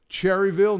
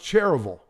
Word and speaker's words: Cherryville: best areas in charlotte north carolina to live cherryville no it's not pronounced that it's pronounced cheruble just like lancaster is not pronounced lancaster south